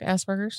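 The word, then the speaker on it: Asperger's: Well, he has a and I can never say Asberers and I know I'm saying it wrong. You said it correct. Asberers. Oh, that's correct. I always sound like I'm saying Asberger.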